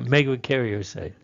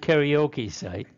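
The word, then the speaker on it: megakaryocyte: one Mega carite okay mega mega Cario site not karaoke site okay this there is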